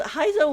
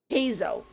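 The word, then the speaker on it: Heizou: story H that's weird I've been saying his name wrong Hao Hao okay I was like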